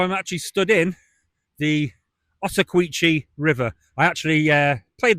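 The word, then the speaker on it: Ottauquechee: passing like, "Can you please tell me how pronounced this river?" And it's the Otawqui.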